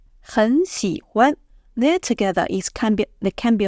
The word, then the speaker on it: 很: So the right way to read them together is 我 have a pause. 很喜欢 change 很 to second tone.